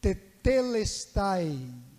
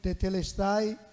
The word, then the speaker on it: tetelestai: o TP le Style é uma pronúncia diferente não é línguas estranhas e saem grego tetelestai quer dizer Está Consumado